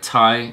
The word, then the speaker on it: Thai: Thai, or is it Dai?